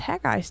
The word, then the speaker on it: Haggai: past 4 or 5 months, and it was Haggai's turn. We're going to say that Haggai because I have no other pronunciation for it.